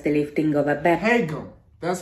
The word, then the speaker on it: Haegeum: HAEGEUM. That's how you say it. Okay, cool. And I even learned how to pronounce the word HAEGEUM.